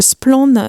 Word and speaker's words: Splann: Pour commencer, qui est l'équipe qui se cache derrière Splan? On précise que ça veut dire clair en breton. Ça s'écrit SPLA2N.